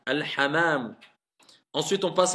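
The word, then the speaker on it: الحمام: Al-hamamu. Pas al-hammamu. Al-hamamu.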